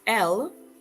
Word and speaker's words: elles: While L, spelled with the S but pronounced just like the singular form ELLE, is used to refer to a group of females only.